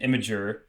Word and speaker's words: Imgur: So per usual, when we do one of these flavor texts, I have created an imager. Right, that's how we say it. That's the right Imager. pronunciation. Imgur.